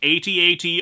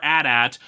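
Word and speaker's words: AT-AT: not have any arguments about pronouncing it 8080 or ad at both are legitimate just as much as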